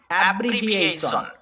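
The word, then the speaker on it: abbreviation: যেখানে টি আই ও এন কে দেখতে পাবে সেখানেই সন উচ্চারণ হবে, তাহলে হবে এ ব্রি ভি এই সন, অ্যাব্রিভিয়েশন, মানে সংক্ষিপ্তকরণ।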